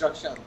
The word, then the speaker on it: Rakshand: Yes, it's Rakshand. Rakshand. Yeah, Rakshand, yeah.